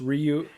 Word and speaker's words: Ryu: Jeezy is a goddess Ryu is the uh right you is the proper pronunciation there you go Ryu